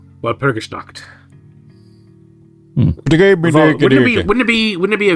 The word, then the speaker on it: Walpurgisnacht: It's actually easier to pronounce that than you think, Xeno. It's Walpurgisnacht. Walpurgisnacht.